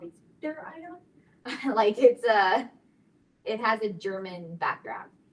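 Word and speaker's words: Zwitterion: But it's called a Zwitter-ion. You can look online to see how it's said correctly. But it is a ZW, Zwitter-ion, to include the isoelectric point.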